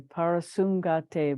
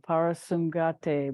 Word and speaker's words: Parasamgate: Andrew's correcting pronunciation to Parasum, Sumgate, SAM instead of SUM.